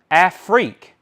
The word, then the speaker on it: Afrique: They put a piece of tape on it and put pronounced Afrique.